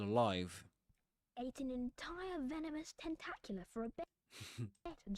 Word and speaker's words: Tentacula: for a bet tentacula Tentacula, that's the pronunciation of that word. Tentacula. ta That vowel sound is the same we find in words like cat, for example. Tentacula. Tentacu la It ends with a schwa.